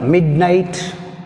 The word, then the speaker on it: midnight: In which is silent, h is silent. Which. Next from 24th, midnight.